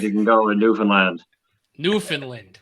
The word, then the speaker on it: Newfoundland: Newfoundland, right? No, you gotta say it right. Newfoundland. They get pissed if you say it wrong. Yeah, you can't say it like a mainlander.